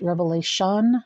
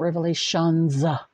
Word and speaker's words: Revelation: All That is Holy it is pronounced Revelation not Revelations it wasn't multiple Revelations it was one long Revelation okay know your stuff